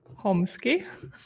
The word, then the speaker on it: Chomsky: by SEO slide today my guest is Raf homeski am I pronouncing it correctly yes yes that's correct hello